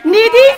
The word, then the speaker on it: Nidhi: Our next contestant, ladies and gentlemen, her name rhymes with giddy. Because that's what happens to you when she walks into a room. Please put your hands together, all the way from permanent roommates, Nidhi Singh!